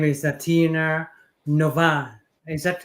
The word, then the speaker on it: Novah: uh, and her name is Tina Novah. Is that how to pronounce Novah?